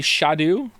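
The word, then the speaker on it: Scadu: me did you know apparently scat is pronounced Shadow uh why didn't they spell it like Shadow then how you getting Shadow from scat it's meant to be shadu it's never not entertaining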